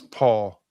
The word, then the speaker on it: Pahl: And Wes Paul, a punter out of Oklahoma State. And that's how you pronounce his last name, even though it's Pahl. And it's not Les Paul like a guitar.